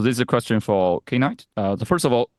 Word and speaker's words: knight: So this is a question for K-Knight. First of all, his ID is pronounced as K-Knight, is not Knight.